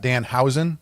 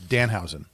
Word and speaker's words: Danhausen: I was I was told I'm saying it wrong. It's not Dan Hen. It's Danhausen.